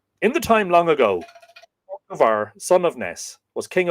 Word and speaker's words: Conchobar: Now, Conchobar could be pronounced Connor, son of Ness, Connor MacNessa, Conchobar, or Crohor. I propose to use the pronunciation Conchobar. But if you'll hear, sort of Connor would be sort of, I think, probably more an anglicization of that name, and Crohor, which, when